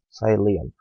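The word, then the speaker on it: psyllium: cellulose and saya Liam sigh Liam right P is silent here sigh Leah and thence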